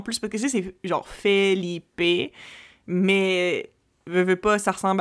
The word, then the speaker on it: Felipe: Puis je suis comme, non, tu sais, c'est pas PHI, c'est Philippe, parce que tu sais, le E en espagnol, c'est E, fait que tu sais, c'est F-E, puis là, tu le prononces, fait que c'est Felipe, fait que F-E-L-I-P-E, puis